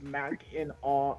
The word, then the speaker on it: Mackinac: you will know that this popular north michigan destination is correctly pronounced mac in awe island well yeah he's